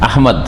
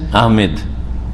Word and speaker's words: আহমদ: আহমদ না কি আমাদের সে নাম উচ্চারণে কিন্তু ভুল আছে এইযে আহমদ এটাও ভুল আর আরেকটা হচ্ছে আহমেদ ইংরেজি থেকে নেওয়া ইংরেজিতে লিখে কি আহমেদ লিখে এমইডি যার ফলে আহমেদ বলে ভুল আহমেদ নাই আহমদ রাসুলিয়াতিমবাদিসহ আহমদ আর সুসংবাদ